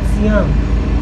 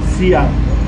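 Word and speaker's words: Tsiam: We call it Siam. Siam.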